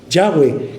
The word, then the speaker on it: Yahweh: y H V H su pronunciación en hebreo es Yahweh que es Jehová Jehová